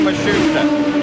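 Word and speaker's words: Matsushita: By the way, the pronunciation on Mashusta, that is now how his team says they'd like it used.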